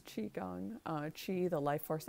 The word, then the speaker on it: qigong: here we do qigong which is spelled q i which a lot of people pronounce ki gong but it's chi gong uh chi the life